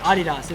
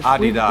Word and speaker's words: Adidas: That's the way you say it, Adidas. Adidas. We've been saying it wrong for a long time.